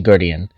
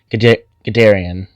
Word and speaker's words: Guderian: I hope that this was informational, and I hope that this helps you on your path to Guderian. I pronounced that so wrong. Guderian.